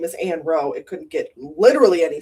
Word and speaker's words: Ann Roe: Her name is Ann Row.